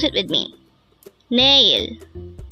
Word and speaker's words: 내일: at they hangle word number 80 nail na this pronounce is a two syllable word the first syllable is n second syllable is pronounce it with me nail nail the Korean word nail is an adverb of